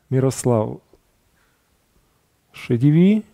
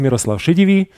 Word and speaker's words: Miroslav Šedivý: My name is Miroslav Šedivý.